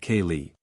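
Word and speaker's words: ceilidh: hold what they call a Kaye pronounced Kaye young and old are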